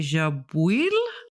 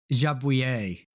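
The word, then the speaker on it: Jabouille: So we have the debut of Jean Pierre Jabil making an attempt to qualify in the Williams. So we'll be hearing more of him in future. I think it's pronounced Jabuer. Jabu. Very good.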